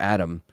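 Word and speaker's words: Adham: And then the Blizzard president, Mike Ybarra, is leaving, along with Blizzard co-founder and design leader Alan Adam, or Adam, if the H is silent.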